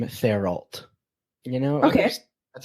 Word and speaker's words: Thériault: I'm American, not French Canadian, so I'm going to call him Thériault.